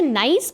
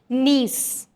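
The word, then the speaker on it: niece: बहुत सारे लोग इसे नाइस पढ़ते हैं, बट the right pronunciation is नीस।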